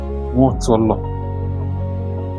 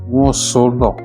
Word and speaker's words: Nwotolo: Nwotolo. Some people pronounce it or even write it like Nwosolo. It is not correct. The correct name and the correct pronunciation is Nwotolo.